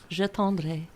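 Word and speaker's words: J'attendrai: How do you pronounce it? Yeah, it's a French song. It's called Je tendrai.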